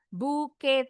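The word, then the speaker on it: bouquet: Kalau untuk bunga bisa pakai kata bunch atau buke yang artinya. Grow together. tulisannya bu eh sebentar. Nah, ini dari bahasa Prancis nih. Buke t-nya silent ini sama dengan batch seikat.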